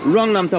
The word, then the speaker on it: Luang Namtha: 루앙남타 버스? 남타. 오케이. 네. 버스. 아 이거 아 6만 6만 개. 오케이. 아니 구글에 루앙남사라고 되어 있는데 여기 현지 발음은 루앙남타라고 얘기를 하네요.